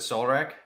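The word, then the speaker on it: Solrac: how you pronounce it Soul rack yeah soul rack yeah it's okay in Reverse my real name is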